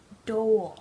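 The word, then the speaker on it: Dole: his name wrong nard do like the pineapple company nard that's how it's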